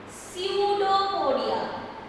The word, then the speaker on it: pseudopodia: which is known as pseudopodia. Pseudopodia. You have to learn the spelling of pseudopodia, where P is silent. We do not pronounce P.